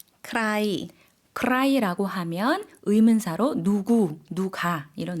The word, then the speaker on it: ใคร: 누구라는 의문사 어떻게 발음하죠? ใคร ใคร cry라고 하면 의문사로 누구, 누가 이런 의미가 되겠습니다.